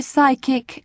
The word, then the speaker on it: psychic: both leave it out in the words psychology psychic and psychiatry you must never sound the pee psychiatrist you call the